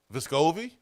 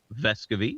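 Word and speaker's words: Vescovi: moving forward I mean his last name is pronounced vescovy then we're going to call him vescovy because that's how it's supposed to be pronounced just what just tell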